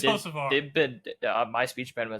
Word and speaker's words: Hocevar: Hokevar. Ben Rhodes, Nicholas Sanchez, Matt. It's There you go, Hocevar. see? It's Hocevar.